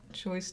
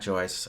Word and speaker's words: Joy: It's Joy. Damn it. Not Joyce.